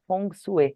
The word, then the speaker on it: Feng Shui: os chineses Falavam sobre Feng Shui que na verdade a pronúncia correta gente é fong suu Ó que chique fu